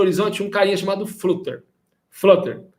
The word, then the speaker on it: Flutter: Flutter, a pronúncia correta.